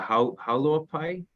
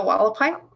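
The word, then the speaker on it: Hualapai: And do you have a relationship with I forgive how I pronounce it, the Haulopai? The Wallapai?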